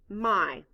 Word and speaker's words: my: out loud m y the letter y stands for the long i sound blend with me um